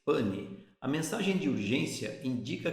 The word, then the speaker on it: pan: Escreve-se pan, pronuncia-se pane.